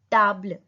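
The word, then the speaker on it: table: अ टेबल, टेबल को बोलते हैं ताबल, स्पेलिंग सेम होती है बट प्रोनाउंसिएशन डिफरेंट है, टी ए ता ब्ल, ताबल।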